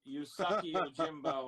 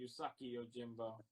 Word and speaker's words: Usagi Yojimbo: Pronounced Usagi Yojimbo on Long Island. Is that what you brought back from New York Comic Con? Yeah, Kyle taught me his name's actually Usagi Yojimbo.